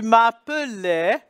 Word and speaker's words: m'appelais: Tu m'appelais, and the A-I-S again, is a verb ending, and the S is silent.